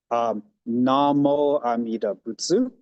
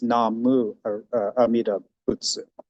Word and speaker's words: Namu Amida Butsu: For example, as I just performed it, I said, Namo Amida Butsu, whereas his original as written says Namu Amida Butsu. That's because since the time in which he wrote it, the Honganji has actually adjusted the proper pronunciation of the Nimbutsu slightly.